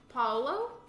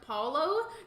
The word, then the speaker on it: Paolo: I pronounce his name Paolo. That's almost about like the same as what Libra said, so that's probably the right pronunciation.